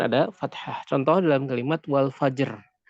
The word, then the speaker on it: الفجر: Contoh dalam kalimat wal fajr. Di sini ra-nya adalah sukun, sukun arid karena waqaf. Kemudian sebelum ro ada jim, kemudian sebelum jim ada fa yang dalam keadaan fathah. Maka dipastikan ini adalah masuk ke dalam pembahasan ro tebal. نعم.